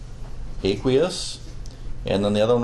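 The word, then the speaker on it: aqueous: aquous that's right and as chemist we usually pronounce it as aquous and then the other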